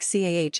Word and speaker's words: car: In most American accents, the R is clearly pronounced at the end of words such as car or teacher. In many traditional British accents, particularly received pronunciation, the R is often silent unless it is followed by a vowel sound. This means that the word car may sound more like CAH in some British accents.